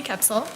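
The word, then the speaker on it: Koepsell: the record or I'm sorry full name and spell it for us it's capsil c h e l s e y last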